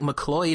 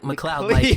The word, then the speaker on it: McLeod: Like, you're one of the first people to say it right for everyone says like McLeod or McLeod, but it's like McLeod. Like McLeod.